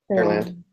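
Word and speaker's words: Pearland: Um by the way, is it Periland or Perland? How how do people pronounce it down there? Perland. Perland. Okay.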